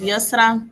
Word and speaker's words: Yusra: Am I pronouncing that right, Yusra? It's Yusra, but you can just call me Yusi.